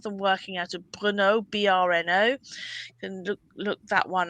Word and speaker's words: Brno: Czechoslovakia, some of them working out of Brno, BRNO. You can look that one up. Brno, I think it's pronounced.